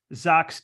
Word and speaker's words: Jacques: So this is what we're going to discuss today with Thomas and with Jacques, which apparently I'm not pronouncing as it should be, but Jacques it is.